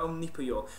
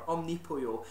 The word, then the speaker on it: Omnipollo: And the name is derived from omnipotent chicken, or Omnipollo. And this, a lot of people I've heard have pronounced it Omnipollo, but pollo, of course, is Spanish for chicken, and that's the correct pronunciation.